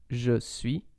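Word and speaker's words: je suis: french so for example you normally say je sui but you can hear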